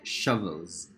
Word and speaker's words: shovels: Okay, shovels. Shovels. Okay, it's a short U sound, or what we call as the accented schwa.